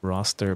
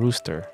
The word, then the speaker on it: rooster: I think it's pronounced rooster. It's not roster because it's raw.